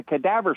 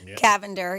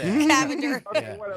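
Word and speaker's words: Cavinder: into the Kadaavver sisters I just want to call them because I don't know how to pronounce their name but the twins that play basketball Miami Cavender. Yeah, Cavend. They got some magic. The cadaavver. Cavender. Yeah. Okay.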